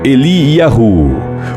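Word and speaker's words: Eliyahu: do Rio Jordão o nome Elias é pronunciado em hebraico eliahu por vezes el que tem por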